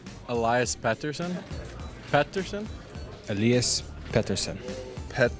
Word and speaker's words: Pettersson: okay you actually wanted the North American eyes pronunciation Peterson as opposed to Patterson but we we've settled on pettersen when you introduce yourself to someone now are you serious and the last end Patterson so you're go alright I don't like myself